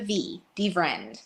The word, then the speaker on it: DeVriend: butchered your name it's it's so like friend but with a V Deen Jennifer Deen I love